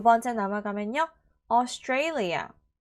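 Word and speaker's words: Australia: 두 번째 남아 가면요 austalia 한 번 더 austalia라고 발음하시면 되는데 자 스아라고 발음하시면 틀립니다 알겠죠 a 발음 나야 돼 a 그리고 그 a 강세가 있습니다 세 번째는요 gorgeous gorgeous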